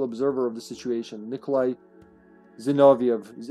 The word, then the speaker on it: Zinoviev: UBCS survivors are exploited by Umbrella's official observer of the situation, Nikolai Zinoviev. It's Zinoviev, it's not Zinovlov, it's Zinoviev. Get your localizations straight, please.